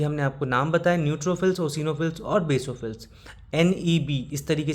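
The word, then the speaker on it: eosinophil: इसके अभी हमने आपको नाम बताए न्यूट्रोफिल्स, ओसिनोफिल्स और बेसोफिल्स। एनईबी इस तरीके से आप लोग याद रखिएगा। न्यूट्रोफिल्स, ओसीनोफिल्स और बेसोफिल्स। एनईबी में जो ओसिनोफिल है उसमें ई साइलेंट है।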